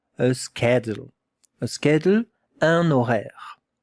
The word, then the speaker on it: horaire: A schedule, un horaire. Pay attention, it begins with an H that we don't hear. We don't listen to the H.